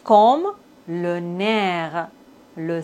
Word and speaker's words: nerf: F comme le nerf. Le cerf. P comme beaucoup. Trop. On ne doit pas prononcer P final.